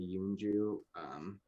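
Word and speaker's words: Eunjoo: you can follow her on social at hey yunju and yunju is spelled e-u-n-j-o-o uh yeah and if you want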